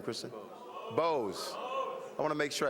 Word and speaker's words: Bowes: Bowes. I want to make sure I said it right. Bowes. It's like you.